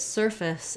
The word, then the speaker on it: surface: difference between these two you might look at surface and think oh that can't that's not pronounced that way what about that f-a-c-e-e uh f-a-c-e that's like face um like my face and often I will hear people mispronounce surface with a little bit they're trying to do that a of face this is an example of a very reduced vowel so even though we